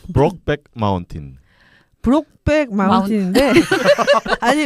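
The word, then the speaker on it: Brokeback Mountain: 발음이 브록백 마운틴.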